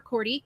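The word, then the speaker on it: Korte: my facebook page courty k-o-r-t-e sorry and then um that's crazy question well i'm on my license plate for a while because people don't know how to say my name it said c-o-r-d-y so for some reason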